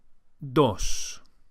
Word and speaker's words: dos: word for two is dos DOS the Spanish D is softer than in English and is produced with the top of the tongue flat against